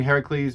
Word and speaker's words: Heracles: from from heracles and i'm using heracles because uh i'm i'm a greek descent and uh that's how you pronounce it in greek uh you may also